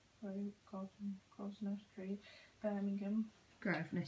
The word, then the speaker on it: Grosvenor: Grosvenor Street. it's spelled with an S.